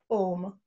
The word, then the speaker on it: Om: of an Lipson and we say ohm and from there people thought that it's a three syllable boom it is just a sound oh there's a name